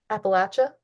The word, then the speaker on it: Appalachia: Appalachia? Yeah, Appalachia. I was trying to I try to know how think to like pronounce how it. do I but It's yeah. like throwing an apple at ya.